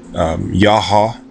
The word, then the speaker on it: YAH HA: But this deity, I believe, to be called YAH HA. It's 2 syllables.